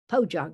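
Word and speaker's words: pojagi: the korean wrapping cloth it's called a bojagi or in some cases it's called pojog if it's spelled p-o-j-a-g-i and korean wrapping claws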